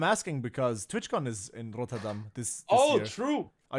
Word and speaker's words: Rotterdam: Rotterdam. Rotterdam. I was close. Yeah. Okay. No, because say I'm asking because TwitchCon is in Rotterdam this Oh, year.